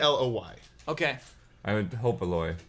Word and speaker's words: Aloy: and the character's name is Alloy or how do you pronounce it? It's Aloy.